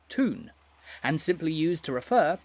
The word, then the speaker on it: Toon: The fans, meanwhile, are affectionately known as the Toon Army, taking their name from the word town, pronounced in a Geordie accent as Toon, and simply used to refer to the city of Newcastle.